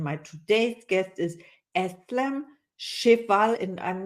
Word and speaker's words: Cheval: today's guest is esam shival and I'm not sure if I pronounced your name right you did indeed shal yeah it's like in French it is it is it means a horse in French yeah I love that